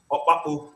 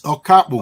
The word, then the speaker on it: Okapu: Opapu, did I pronounce that correctly? No, you mix it up. It's Okapu. Okay, can you please pronounce it Okapu?